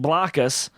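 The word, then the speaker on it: Blokus: sequoia a french company pronounced bloccus it's uh you spell it b-l-o-k-u-s um it was later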